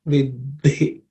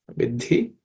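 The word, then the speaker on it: विधि: In the third line, vidhi, this idhi is a compound consonant. It comprises of id and id. Okay, so the second letter in that compound consonant is aspirated, so it should be pronounced vidhi. Okay, it should end with an aspiration.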